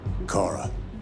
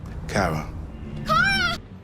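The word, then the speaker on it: Kara: androids connor marcus and cara whose name pronunciation differs depending on which character is saying it cora cara my name is cara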